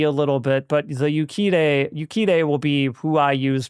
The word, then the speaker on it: Urquidez: It's Yukide, but that's spelled Urquidez. Yukide, apparently.